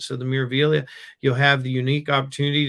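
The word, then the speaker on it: Meraviglia: I said Miraviglia earlier, but he tells me that the G is silent. So the Miraviglia, you'll have the unique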